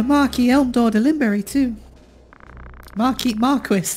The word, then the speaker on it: Marquis: Marquis. That's pronounced Marquis. I'm pretty sure that is pronounced Marquis. Not Marquis.